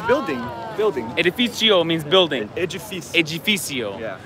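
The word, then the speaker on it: edifício: Edificio. Yeah. So the C is an S and the D is a G.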